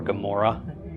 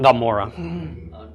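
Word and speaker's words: עמורה: So how do you technically pronounce Gomorrah with the ayin? Gomorrah. Gomorrah. It's like swallowing your tongue while saying Amora.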